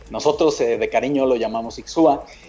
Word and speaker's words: Ixhua: Ixchua, como tú lo comentas, es la pronunciación correcta. Viene del náhuatl ver la semilla crecer o la cosecha brotar. Nosotros de cariño lo llamamos Ixchua.